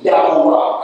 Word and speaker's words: Yahuwah: Together with Yah, the name would then literally mean Yahuwah. That's the correct pronunciation.